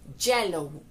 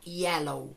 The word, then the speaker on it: yellow: decir el color amarillo, solemos pronunciar la Y como Y, yellow. Yellow, lo cual no es correcto, la Y en este caso suena como una I, de modo que la forma correcta sería yellow, yellow.